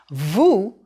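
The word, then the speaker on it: vous: want to show respect it's pronounced with the O sound ooh as in goose who is also you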